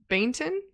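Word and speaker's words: Baynton: by Peter ba ban bainton b a y n bainton bainton I would say I'm guessing maybe the Y is silent Bon and Charlie mcy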